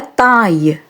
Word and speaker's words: taille: So the pronunciation of the French sound AILLE is same as the pronunciation of AIL. I. Let us see some examples. La taille.